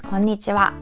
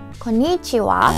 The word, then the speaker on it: こんにちは: out about pronunciation, because many of you guys say it konnichiwa, emphasis on ni for some reason, like konnichiwa. But Japanese has like same tempo. There are 5 syllables.